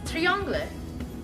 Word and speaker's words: triangle: Our next shape is a triangle, which means tree-anhg-le. Same spelling, different pronunciation.